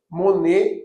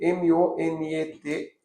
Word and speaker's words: Monet: O Degas é muito bom, gosto bastante das pinturas de Degas, Monet, com O, Monet, M-O-N-E-T, então tem o Manet e o Monet.